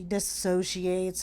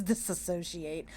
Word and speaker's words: dissociate: And she talks about how she dissociates and all. It's dissociate. She doesn't even say it right. She says disassociate.